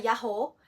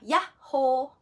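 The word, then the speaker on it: やっほー: ganyan yung sulat niya Meron siyang maliit na Tsu sa gitna kasi merong konting poso Hindi siya yaho ano siya yah ho medyo may konting pagitan yung ya at saka yung ho so y ho yan Number eight naman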